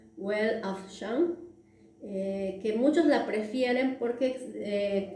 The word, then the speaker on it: Weltanschauung: en alemán pues es algo así, disculpen la pronunciación, Weltanschauung, que muchos la prefieren porque consideran que expresa mejor y abarca mejor justamente el concepto o la definición de cosmovisión, ¿no?